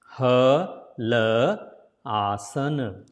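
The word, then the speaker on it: Halasana: So it is a single A, so small sound. Hala. Not opening the mouth too much. Hala asana. If you put together, then la becomes la. So it will be Halaasana. Separately Halaasana. Together Halaasana. Next it will be ear pressing pose.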